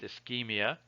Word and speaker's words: ischemia: cut instead of Chuck so this word is pronounced ischemia so the word ischemia means that you've cut